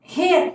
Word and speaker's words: heir: दुर्भाग्य से, हेयर HEIR हेयर, यहाँ पर क्या स्पेलिंग है हेयर की, HEIR हेयर, और ऊपर जो हेयर आया था उसकी क्या स्पेलिंग थी, HAIR, उस हेयर का मतलब था बाल, और यहाँ पर HEIR हेयर का मतलब है उत्तराधिकारी।